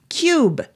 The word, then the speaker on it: Qube: Cube, that is spelled Qube.